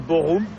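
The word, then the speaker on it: Bochum: Boum en fait ça se dit bor même si ça s'écrit Boum.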